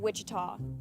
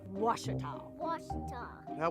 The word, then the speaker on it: Ouachita: searching for Baptist University back in Texas everybody pronounces it Witchita but really it's was was how would you pronounce it was it's was Baptist University get it right it's wash people it's wash wash welcome back to Tiger